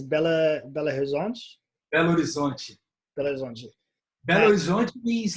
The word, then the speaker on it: Belo Horizonte: From your city, I can never pronounce it right. It's Belo Horizonte? Belo Horizonte.